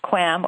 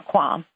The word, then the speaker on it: QAM: quadrature amplitude modulation or QAM sometimes pronounced qualm or qualm the basic importance the